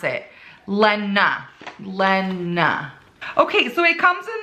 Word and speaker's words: Lena: They tell you how to pronounce it. Lena.